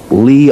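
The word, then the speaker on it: Leigh: Temp's drive, Lee on C.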